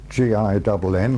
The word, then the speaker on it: Ginn: My name is Ginn. I spell it G-I-N-N, like the drink.